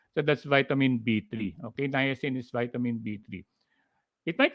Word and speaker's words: niacin: just you just mentioned na yasin no na yasin you have three okay you have three syllables so that's vitamin b3 okay niacin is vitamin b3 it